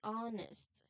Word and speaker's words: honest: So the H at the beginning is silent. We say honest, not honest, but honest.